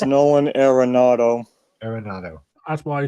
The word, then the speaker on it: Arenado: I I did one with It's Nolan Arenado.